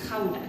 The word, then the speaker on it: Gouda: Cheese, and in Holland we pronounce it as Gouda cheese.